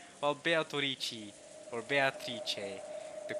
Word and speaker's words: Beatrice: it, because Kinzo's going Beatrice. But I think in Italian the correct pronunciation is actually Beatrice. So it's Beatrice. It's not Beatrice, it's more like Beatrice. You have like an A at the end.